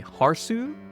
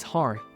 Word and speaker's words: Harth: Would it be Harsu? Hersu? She tried to spark up light conversation about gaming, and was excited to learn Yuuta was into MMO’s. She wanted to know what other one’s he played in the past. Yuuta revealed he used to play NanterSG, taking Mori somewhat aback. She then asked how to pronounce his name. And after learning he was Harth, all her memories from